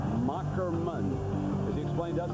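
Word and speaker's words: Moherman: Journalism major, and the name is pronounced Macklemann. As he explained to us, that's old German where the H is a K.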